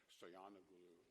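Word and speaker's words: Stoianoglo: The losing presidential candidate, Stoyanoglu, is that how you pronounce it? Yes.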